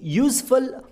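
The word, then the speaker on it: useful: Well, ನಾವು ತುಂಬ ಜನಗಳು ಝ ಶಬ್ದ ಬಳಸಿ ಯೂಸ್ಫುಲ್ ಯೂಸ್ಲೆಸ್ ಅಂತ ಉಚ್ಚಾರಣೆ ಮಾಡ್ತೀವಿ, ಬಟ್ ಅದು ತಪ್ಪು ಉಚ್ಚಾರಣೆ ಆಗುತ್ತೆ. ಈ ಪದಗಳ ಸರಿ ಉಚ್ಚಾರಣೆ ಸ ಶಬ್ದದಿಂದ ಯೂಸ್ಫುಲ್ ಮತ್ತು ಯೂಸ್ಲೆಸ್ ಅಂತ ಬರುತ್ತೆ.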